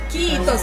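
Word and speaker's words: kiitos: kitos quitos é obrigada kitos kitos kitos é é k i i t o s e em finlandês você pronuncia todas as letras Então você fala kitos Achou já castanho achei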